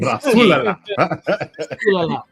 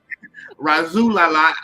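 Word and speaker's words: Rasulala: Razulala. Razulala.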